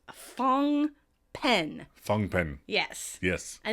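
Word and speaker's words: Phnom Penh: now he is the capital of Cambodia is pronounced fong pen fong pen yes yes a name that can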